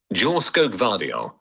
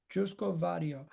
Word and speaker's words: Joško Gvardiol: How do you pronounce this guy's name? Let me find out. 1 second. Joško Gvardiol. Joško Gvardiol.